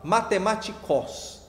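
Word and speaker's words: μαθηματικός: E você vai pronunciar da seguinte forma: matematikos. Sabe o que significa essas duas coisas aí?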